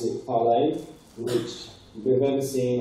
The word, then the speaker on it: ParlAI: So this talk is about ParlAI, that looks like ParlAI, something like that, but we pronounce it ParlAI, which if you've ever seen like Pirates of